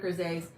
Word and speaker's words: grisaille: I do have a full set of grisailles. I always see the spell, like I phonetically sound it out when I see it, but I know it's pronounced grisaille.